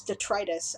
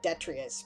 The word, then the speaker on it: detritus: I didn't know how to pronounce detritus until like 5 years ago. I pronounced it detrius because I'd only ever seen it in print.